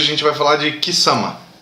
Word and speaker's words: Quissama: Se for o mesmo lugar, então é Kisama.